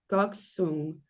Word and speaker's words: Gokseong: Goksung. Let me I didn't check that pronunciation. Sorry, you guys. Don't want to get it wrong. A beautiful mountain village. And so there's a lot of Gokseong.